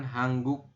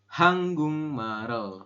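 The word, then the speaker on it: 한국말: Tuliskan seperti ini Gung dibacanya Bukan hangguk tapi hanggung Oke setelah hanggung di sini ada Mal El Nah di sini ada real ketemu dengan vokal e maka rnya naik ke sini bunyinya R maka kita bacanya marel seperti itu ini di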